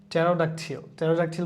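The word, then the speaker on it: pterodactyl: সাম, এখানে এলটাও সাইলেন্ট থাকবে, পিটাও সাইলেন্ট থাকবে, এর আগে আমরা এটা দেখছি। সাইকোলজি। টেরোডাকটিল বলতে কি একটা প্রাচীন রেপটাইলের কথা বলা হয়েছে।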